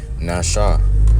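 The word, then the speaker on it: נשא: Nasha. All right, I'm not sure if you can hear it or not, but I can definitely hear it. Lord willing, you can't hear it, but it's pronounced nasha.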